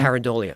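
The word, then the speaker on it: pareidolia: Paridolia.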